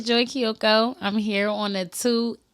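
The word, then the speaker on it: Joi Keioko: right there you know how to say it's Joy Kyoko I'm here on the two things podcast say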